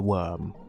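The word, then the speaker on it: wyrm: dragon is called a worm, but it's not spelled like like earthworm. Spelled like worm. Uh, W Y RM.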